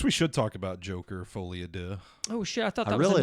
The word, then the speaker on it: Folie à Deux: yeah I guess we should talk about Joker folad do oh I thought I really like the pronunciation there I looked it up another episode